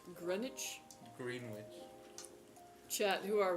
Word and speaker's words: Greenwich: Um that's not pronounced green witch. I'm pretty sure it's Grenwich.